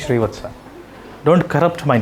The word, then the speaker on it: Srivatsa: It is Srinivasa. No, that's a wrong way of pronouncing my name. My name is Srivatsa.